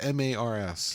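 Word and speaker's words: M/A/R/R/S: now is it pronounced Mars or just m-a-r-s just say Mars Mars was it number one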